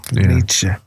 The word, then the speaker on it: Nietzsche: You got to say it right. It's Nietzsche, apparently. Yeah, Nietzsche.